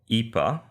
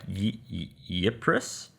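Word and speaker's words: Ypres: yeah well in belgium there is a town called ipa which is spelled y p r e s okay so i was like yepres um so they have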